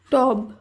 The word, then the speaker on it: টব: ধ্বনি রূপেই উচ্চারিত হয় তাই টব এর উচ্চারণ টব হয় রব এর শুদ্ধ উচ্চারণ